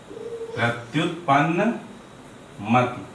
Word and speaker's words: प्रत्युत्पन्न मति: ये ता है, प्रत्युत्पन्न मति। प्रत्युत्पन्न मति। मति मत कर देना, न मति उच्चारण करना है, मति छोटी की मात्रा।